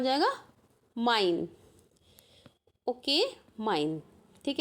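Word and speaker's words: mein: तो इसका एग्जाम्पल क्या हो जाएगा, माइन। Okay, माइन। ठीक है, तो जहाँ भी आई ई आएगा तो उसे ई, और एम ई आई आएगा तो आई, जस्ट अपोजिट।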